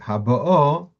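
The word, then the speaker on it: הבאה: In other words, the first time he would say Lashona Habo, Mil-El, on the second last syllable, and in the second one, he would say Haba'o, the stress on the last syllable, which means in Dikduk,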